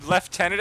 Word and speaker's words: Lieutenant: You don't put a single F in Lieutenant at all.